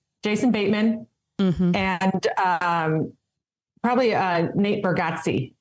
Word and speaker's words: Bargatze: And then probably Jason Bateman and probably Nate Bargatze. How do you pronounce his last name?